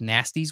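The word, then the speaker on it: Gnasty: in a place called nasty's world this is nasty smell spelled with a G also g n a s y important to know because he's a gnome and an orc it's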